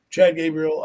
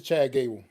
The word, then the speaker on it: Chad Gable: I think I'm saying his name wrong, but I hope he does well. You are, but it's all right. We get it. What is his name? We get it. It's Chad Gable.